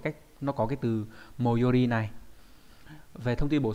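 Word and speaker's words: 最寄り: Và đặc biệt trong chữ tối ghép lại chữ ký, đúng nhỉ, nó đọc là moyori, có nghĩa là gần nhất, đúng nhỉ?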